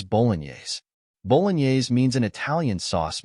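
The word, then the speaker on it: Bolognese: word correctly in English it is spelled as b o g n c the correct pronunciation of this word is Boles Boles means an Italian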